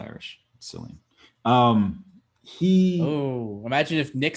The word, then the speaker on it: Cillian: Cillian. Imagine if Nick said that every single time he mispronounced something.